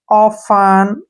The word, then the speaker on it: often: के बाद EN है ना तो टी को छोड़ देंगे, भूल जाएंगे टी को हम। OF, OF को क्या पढ़ते हैं हम, ऑफ, ऐसे, और आधा फ, ठीक है ना, ऑफ। और EN का उच्चारण न, ऑफन, ऐसे, ऑफन पढ़ेंगे इसको, ऑफन।